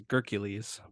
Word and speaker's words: grkles: I always used to say grkles, and now I say grkles because Simon and zetamath have infected me. I do think that we've established that the correct pronunciation is grkles, but I could be wrong.